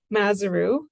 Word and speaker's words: Mazuru: I pronounce that um it's mazuru it rhymes with kangaroo that's probably not how you would say it if you were actually Dutch so apologies but uh